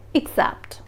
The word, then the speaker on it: except: are pronounced slightly differently the first vowel sound is pronounced differently except starts with the sound a accept and except starts with a sound e except but whenever you pronounce